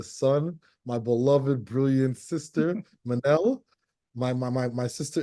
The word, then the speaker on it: Minnelle: yes my name is Manel think of Michelle but with two ends for those who see it and forget how to say it Manel I am a licensed